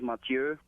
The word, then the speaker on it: Matthieu: We definitely are we pronouncing that correctly? Yeah, it's Ma2. But the real name is Matthieu, but no one can really say it correctly